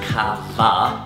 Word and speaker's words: kava: Pronounced Kava with a V.